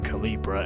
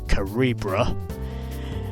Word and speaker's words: Calibra: voxel karibra turinka as which i've been mispronouncing by saying calibra it's actually karibra a mitsubishi land city